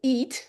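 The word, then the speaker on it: E-E-A-T: So eat but with a long e at the beginning.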